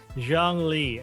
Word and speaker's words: Zhongli: Speaking of Genshin, yeah, I've been seeing a lot of, how do you pronounce it? Mick Zhongli. Zhongli.